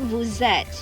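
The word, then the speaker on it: vous êtes: next you have that look at the spelling woozet you have v-o-u-s and you have e-t-e-s okay s and e the sound is zack so it is and you stress at the t okay all right okay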